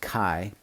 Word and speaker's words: chi: CH I - square CH I is a Greek letter pronounced Kai ki phonetically as in the word kite the symbol for a